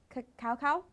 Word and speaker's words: cacao: One of my favorites is the hazelnut cacao, that's how it's pronounced.